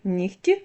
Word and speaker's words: нігті: пишемо так і вимовляємо проте є п'ять слів в яких дзвінки перетворюються на глухий це такі слова як кігті нігті легко вогко дьохтю Ви чуєте що я вимовляю х а не г хоча ми пишемо в цих словах г ось транскрипція цих слів